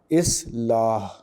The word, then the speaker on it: اصلاح: یہ لفظ ہے اصلاح۔ الف کے نیچے زیر ہے، سواد ساکن ہے، لام پر زبر ہے، الف ساکن اور ہے ساکن۔ اس طرح اس کا تلفظ بنے گا اصلاح۔ آئیے چوتھے لفظ کے